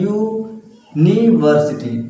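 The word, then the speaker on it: university: यूनिवर्सिटी देखिए यहाँ पे यू का उच्चारण निकल रहा है, यूनिवर्सिटी ना, ऐसे होता है यूनिवर्सिटी ना।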